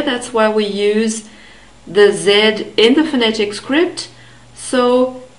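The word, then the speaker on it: Sie: it's a formal talk z also contains this ee d foam which is a long e sound so we have the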